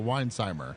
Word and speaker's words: Weinsheimer: to take a shot wiin shimer uh so technically the H is the S is or the H is silent for some reason so Weinheimer Weinheimer look I don't